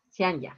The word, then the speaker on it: Cianya: Abigail, Dana, Edgar, Liliana, Luz, Cianya, espero decirlo correctamente, que tengan muy buenas noches. Carlos también estaba conectado. Bueno. Perfecto. Ah, dice que sí, así se pronuncia. Cianya, perfecto. Bueno, voy a tratar de acordarme.